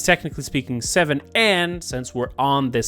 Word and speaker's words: VII: in roman numbers uh but it's technically speaking seven and since we're on this same matter yes